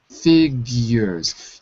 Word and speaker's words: figures: figures at the figures figures you have to have that euu sound figures yours figures f ah you've got to have a g instead of a it's a hard G fig F difficult